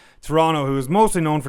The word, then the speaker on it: Toronto: it like a local Toronto we don't pronounce the T at the End Toronto who is mostly known